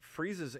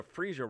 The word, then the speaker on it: Frieza: old he took over the freesia roll i hope i'm pronouncing that correctly because frieza i'm not a dragon ball z watcher yeah no you're right it's frieza that'll get me killed